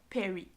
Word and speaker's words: Peary: Donc, ça se peut que je le prononce pas comme il faut, là, Perry, mais je pense que oui, là, Robert Peary.